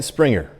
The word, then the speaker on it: Springer: first fox news correspondent dan springer rhymes with stinger is in washington to